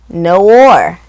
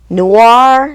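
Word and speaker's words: Noire: Um G-Spot, No War. Noir, noir. I never I I never knew how to pronounce that name.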